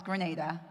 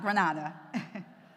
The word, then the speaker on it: Grenada: It's the tiny, tiny, tiny island in the Caribbean that I know most of you in Spain think I'm saying it wrong, but it's Grenada, not Granada.